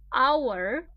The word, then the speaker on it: hour: what's the problem here for example our starts with H H is not a vowel not a toe but pay attention to the pronunciation un hour a the first sound that you hear is a vowel and this is what